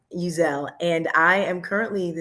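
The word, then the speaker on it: Uzzell: name is jeanine uzell it's just a little change in how you say it um uzelle and i am currently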